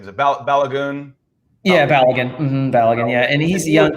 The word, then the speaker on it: Balogun: He was and how do you pronounce his name? Is it Balogun? Yeah, Balogun.